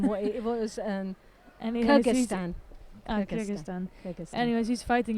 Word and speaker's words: Kyrgyzstan: Anyways, he's- Kyrgyzstan.